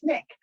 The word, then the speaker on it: SNCC: And I, at the end of class, said, oh, hey, I needed to tell you, it's pronounced SNCC.